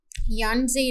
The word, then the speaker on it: Yenisei: और एक यहीं पे एक और रिवर है जिसका नाम है यानजे रिवर। आप इसकी स्पेलिंग देखोगे तो इसकी होगी YENISEI, यानजे रिवर।